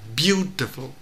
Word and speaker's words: beautiful: Và điểm thứ hai nữa là từ beautiful thì trọng âm rơi vào âm tiết thứ nhất là beautiful, beautiful chứ không phải beautiful, cũng không phải là beautiful, mà phải là beautiful, beautiful.